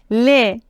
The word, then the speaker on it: les: le dernier article défini les l e s les ne prononcez pas le S on n'est pas laisse